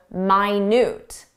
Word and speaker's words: minute: But there's an adjective, minute. Minute. Minute means very small.